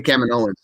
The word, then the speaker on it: Kaminoans: How do you say they say Kaminoans.